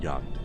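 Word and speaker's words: Jagd: Also, of course, this game also teaches you how to pronounce the word yacht. As opposed to just looking at this thing on your screen that says J-A-G-D. What the hell am I supposed to say? Jagged.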